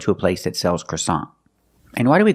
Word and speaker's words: croissant: a place that sells croissant. And why do we call the bread croissant? Because it's a French name, but we pronounce it a little different. We pronounce it with the American accent.